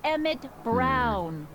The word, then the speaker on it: Emmett Brown: That's Emmett Brown. Rhymes with clown, which I'm beginning to think you are.